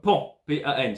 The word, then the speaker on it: pan-pan: Alors pan, c'est comme pan, P-A-N, c'est pan-pan, pan-pan. Pan-pan, pan-pan, pan-pan, on la prononce pan-pan, pan-pan, pan-pan. Différence avec Mayday, qu'on entend 3 fois. Pan-pan, on entend 6 fois pan.